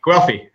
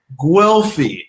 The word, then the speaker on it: Guelfi: than I can say it how do you pronounce it goofy or wealthy Guelph e Guelph e it's in Florence right yes Vincent Guelph E